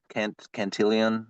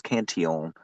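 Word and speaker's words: Cantillon: you know the the canion effect which a lot of people say canon canilian right because it has a couple L's in there but it's it's in French name so it's canion Um, but it's it's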